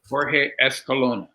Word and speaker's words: Jorge Escalona: Jorge Escalona. There you Perfect. go. I didn't want to pronounce it and butcher it, so I figured out what to do it.